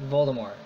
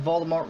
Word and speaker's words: Voldemort: people have been pronouncing Voldemort wrong. The T is actually silent. Now, you don't have to believe this. She's just what she says, but I don't care. I'm gonna pronounce Voldemort the way I pronounce it.